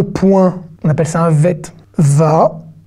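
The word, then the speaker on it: בית: La deuxième lettre, c'est un vet. C'est un bête sans point. D'accord ? Eh ben, il n'y a aucune voyelle. Donc, ça fait v.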